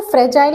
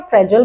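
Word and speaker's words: fragile: फ्रेजाइल, अब इसको फ्रेजाइल भी बोलते हैं और फ्रेजल भी बोलते हैं, दोनों ही प्रोनाउंसिएशन बिल्कुल करेक्ट है।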